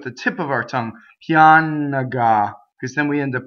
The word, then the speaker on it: pianga: The GA is hard because it's GA. GIA would be ja, right? So ga is hard, right? So when we make ga, we do that with the middle of our tongue, and the N goes right up to that G, right?